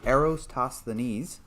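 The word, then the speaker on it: Eratosthenes: right so someone says the correct way to pronounce it arrows toss the knees aristocines ah there you go that sounds about right thank you um and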